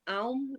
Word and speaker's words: Om: Entonces digamos que el OM es un llamamiento. No, es una presencia permanente. Sí, exacto. El Om, o sea, que es como Aum, como se pronuncia, pero es el Kaman, ¿verdad?